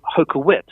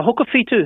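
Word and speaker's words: Hokowhitu: the second world war is often called hokuwit yes and i challenged that and said well you know hoka fetu has enormous spiritual power um for not only the modern battalion for everybody and it would be nice if you showed your respect by pronouncing it correctly and making the effort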